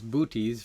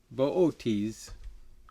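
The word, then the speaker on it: Boötes: i learned this constellation i heard it as booties from my astronomy instructor but it's booties closer to the correct pronunciation although the pronunciation varies all over the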